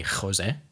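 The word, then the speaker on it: José: So often in Spanish, the J is is either what we would think of in Afrikaans as a G, Yeah. Or in English, it's often easier for people to just pronounce it as an H. So if you've heard people say Jose, maybe it's more accurately Jose.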